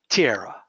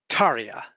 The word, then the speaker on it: Tiera: up and I said, oh, you must be Tiera. And she said, oh, yeah, I'm actually, Carl, it's Taria. And I said, I'm sorry? I said, but it's spelled, and she said, no, it's Taria.